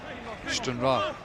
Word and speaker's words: Stranraer: St Mirren down at Stranraer. Get John Sutton on. Stranraer. That's how you pronounce it, Chris.